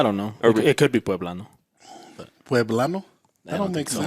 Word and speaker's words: poblano: Soy poblano. Or That is true. Hidalguense or like Michoacano. Like that's Actually, they say soy poblano, They do. right? Pueblano? Poblano. Poblano.